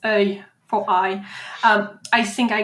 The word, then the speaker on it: œil: is not the best and easy word, but it's spelled O-E-I-L. It's œil for eye.